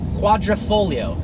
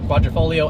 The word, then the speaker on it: Quadrifoglio: Quadrifoglio stands for, as you said, four-leaf clover. And it's pronounced like it's spelled if you took out the G.